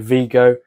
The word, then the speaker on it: Vigo: I hope you enjoyed Vigo uh the place that rhymes with uh Nico or whatever that guy